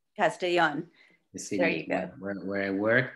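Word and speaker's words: Castellón: in spain what's the name of it i'll pronounce it it's castellon castellan you see where i work but i'm living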